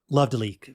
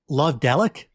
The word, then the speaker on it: Love Delic: spaces for each syllable, I think it is supposed to be kind of like Love Delic. In short, you can pronounce it Love Delic or Love Delic or Love Delique. Anything is okay. Listeners, you can pronounce it however you want, and I'm sure we will pronounce